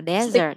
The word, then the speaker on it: desert: Sa mạc đọc là desert nha. Yes. À, desert. Dessert. Bỏ mất một chữ sờ.